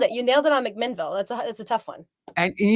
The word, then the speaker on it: McMinnville: You were actually from, I can't pronounce it. If I do it right, I will. But McMinnville, Oregon.